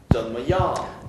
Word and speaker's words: 怎么样: 발음이 끝날 때까지 입을 닫지 않습니다. 怎么样? 怎么样?